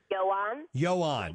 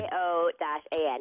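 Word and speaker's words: Ioan: And how do you pronounce this actor's name? He's really good. Yoan Griffith. Yes. What is it again? Yoan. Okay. Y-O-A-N.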